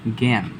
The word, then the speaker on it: জ্ঞান: যদি এটা শব্দের প্রথমে থাকে, শব্দের প্রথমে থাকলে সেটাকে আমরা রূপান্তর করে লিখব গ জফলা চন্দ্রবিন্দু, গ জফলা চন্দ্রবিন্দু। যেমন এখানে আছে জ্ঞান, জ্ঞান।